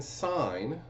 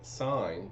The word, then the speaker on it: sine: So we define sine, so you spell it out S-I-N-E, so that's how we read it, sine, but we abbreviate it S-I-N. Now you don't pronounce it as sin, it's sine.